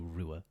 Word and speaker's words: Ruadh: we're like wait what I'm just going to call you Rua and I was like oh my God that's exactly what my name is amazing good job uh